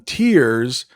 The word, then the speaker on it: tear: We call them tears, but we have the same exact word spelled the same way, but we pronounce it tear.